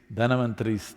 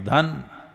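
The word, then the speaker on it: Dhanvantari: It is Dhanavantari's Trayodashi. North Indian people must connect, don't go on clipping away one syllable and come Dhanavantari becomes Dhan, Trayodashi becomes Tera. Don't keep clipping it away So, here we are.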